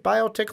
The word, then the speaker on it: Biotic: So number one, he's got a Biotic. Did I say that right? Biotic launcher? Yep, Biotic. Or a Bionic? No, not Bionic. It's Biotic.